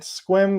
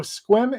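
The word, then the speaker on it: Sequim: but that's not how you pronounce it it's pronounced squim so squim is kind of between port angeles and port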